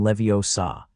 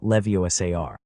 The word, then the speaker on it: Leviosa: "It's Wingardium Leviosa, not Leviosa.